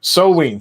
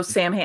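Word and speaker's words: Samhain: Soween. Thank you. Soween. I know Sam Hain.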